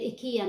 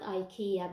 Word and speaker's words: IKEA: this one in ikea we said ikea not ikea because i'm in sweden and you actually pronounce it as ikea so this is like